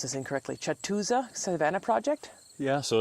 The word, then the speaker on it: Catoosa: It says, I'm probably going to pronounce this incorrectly, Catoosa Savanna Project? Yeah, so it's pronounced Catoosa. Catoosa.